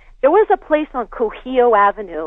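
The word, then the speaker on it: Kuhio: There was a place on Cujillo Avenue. It's spelled K-U-H-I-O, Cujillo Avenue.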